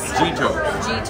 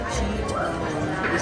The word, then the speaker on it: Gitto's: Gitto's. You gotta pronounce it right. Gitto's.